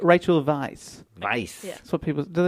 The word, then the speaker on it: Weisz: I reckon that would even be pronounced something like Weiss. Yeah, it's not like Right. Rachel Weisz. Weiss.